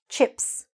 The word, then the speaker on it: chips: This one, chips. Just one syllable, chips. What's important here is that the I is really short. So make sure you're saying it fast and short.